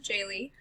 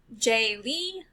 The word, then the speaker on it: Jaylee: or miss my name is my father's first initial middle name pushed together his name is jim lee so j dot lee that's my name jaylee people pronounce it j lee jaylee i forget what other ways um the most common one is separating it into two different names so like my first